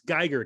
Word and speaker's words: Geiger: the cover i'm like it's geiger like a geiger counter for for searching out